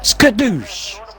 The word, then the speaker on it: Skadoosh: No, it's pronounced Skadoosh.